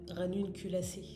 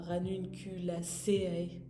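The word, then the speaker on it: Ranunculaceae: comme il faut mais la prononciation par exemple de la famille c'est ranune culassé et pas ranun cul.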